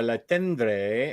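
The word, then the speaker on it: Le Tendre: the time Bird by La tendre and oh he's French so it's like low you don't pronounce half the letters in there and Peter Pan By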